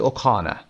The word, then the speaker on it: O'Connor: ممکنه بشنوید اوکانر. در بریتیش معمولا قبل از آر انتهایی اگر یک حرف با صدا داشته باشیم اون آر تلفظ نمیشه. با همون صدا میاد و گفته میشه اوکانر.